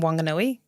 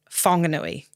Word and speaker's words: Whanganui: Whanganui, the iwi in Whanganui, it was always H. There's always an H in it, but they pronounce it with a soft H. So the iwi in Whanganui say Whanganui. Whanganui. Not Whanganui. Okay. Which is the harder H from the northern parts of the country.